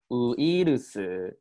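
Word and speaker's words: ウイルス: So this is not Japanese made English because English has this word, but the pronunciation is so different. So I add it to the slide. But I want to ask, what does uirusu mean?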